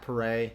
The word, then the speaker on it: Pare: But when I was in Augusta, I used something that I've used in the past is Hip Hop Hooray, which kind of rhymes with my last name, like Pare, right.